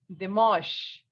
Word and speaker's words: dimanche: And Sunday is Dimanche. Listen once more. Dimanche. Dimanche. The sound of an in French is on. So we have Dimanche.